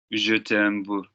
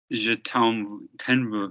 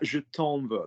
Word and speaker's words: Je t'en veux: Je t'aime veux. Don't read en. Pronounce it properly. What was en? How's it going to be pronounced? Je t'en veux. That's better. Je t'en veux.